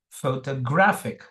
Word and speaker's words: photographic: receives the secondary stress both are stressed only thing graph is stressed more than f so listen very carefully it is phototographic photographic Photographic photographic again no